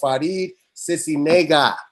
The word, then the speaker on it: Faride Sisniega: And without no further ado, we have the beautiful Faride Sisniega.